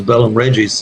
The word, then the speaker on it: Bellum Regis: Okay, so the album title, Bellum Regis, is that the correct pronunciation? Yeah, it's Bellum Regis. It's Latin, and translated into English, it's War of Kings or War of Royals, and it refers to